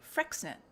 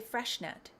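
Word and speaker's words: Freixenet: pronounce this and then the person from the company told me frexnet frexnet some people say freshnet but i think it's frexnet now i'm not sure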